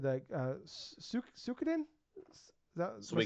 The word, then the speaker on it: Suikoden: So they said that Suikoden, is that, am I saying it right? Suikoden. Yeah, okay. I'm only have that one because I can't pronounce it.